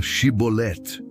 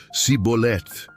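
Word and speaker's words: shibboleth: Eles pediam que os suspeitos pronunciassem a palavra Shibolet, espiga ou torrente. Os efraimitas, devido ao seu dialeto, pronunciavam o som como Sibolet, incapazes de produzir o som sh.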